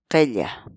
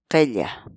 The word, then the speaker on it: qilla: de videos en la que te enseñamos a pronunciar algunas palabras en quechua. Así que nuestra palabra del día por hoy es qella, qella, qella, la palabra quechua.